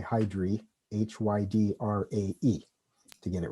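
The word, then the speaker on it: Hydrae: in is called hydra but the genitive form of the of the constellation is hydra it's spelled a e at the end and the proper way to designate the star would be h s hydri if you spell it out so the constellation is hydra h h-y-d-r-a but if you write out the full name when you use the hs you should say hydry h-y-d-r-a-e to get it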